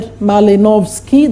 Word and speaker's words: Malinowski: There is that man there, Malinowski, that's how you pronounce.